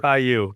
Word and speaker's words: Caillou: Okay, so my least favorite character of all time is I don't even know how you pronounce his name. I think it's like Kalleu or Kalulu or Caillou.